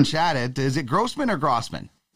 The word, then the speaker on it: Grosman: uh met or chatted is it grossman or grossman it's uh grossman grossman excellent well welcome uh to the program